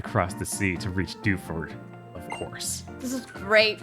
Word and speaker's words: Dewford: You should you should find him in Dewford. Bob, you have real PS2 Gen dub energy. Dewford? No. Dewford. Every word pronounced individually.